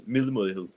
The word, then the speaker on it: middelmådighed: Middelmådighed. middelmådighed. Middelmådighed. Middelmådighed. Yes, about that. It's the Danish D. Sometimes it's pronounced like the th, I like, see. but more softly.